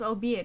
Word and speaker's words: albeit: Albeit. Wait, it's pronounced albeit, isn't it?